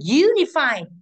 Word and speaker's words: unify: Thì vậy unify có đuôi phi cũng rơi vào âm thứ ba, tính từ cuối đường ngược lại u âm 1.